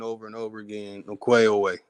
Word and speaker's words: Ongweh'onweh: 5 years ago, I made a song saying over and over again, Ongweh'onweh. I was using the K, and then I started changing it and using the proper way, using the G.